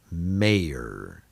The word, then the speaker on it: mayor: more about that so here's an example two vowels close together where the y is acting as a vowel and it's silent may er mayor mayor prayer is another example where y is silent prayer all right well that